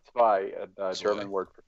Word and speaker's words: zwei: Yeah, well, it's like the reason it's like it's the word is it's zwei, like z. It's pronounced Zwei. like zvai, like zwei.